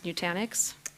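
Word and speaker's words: Nutanix: appreciate it okay so nanic that's how it's pronounced new tanic that is correct new tanic okay so that's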